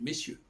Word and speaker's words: messieurs: Et au pluriel, c'est pareil, messieurs. Ce R, là, il n'est pas prononcé.